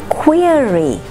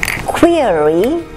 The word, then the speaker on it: query: Query does not rhyme with very, nor does fury sound like berry. Query does not rhyme with very, nor does fury sound like bury.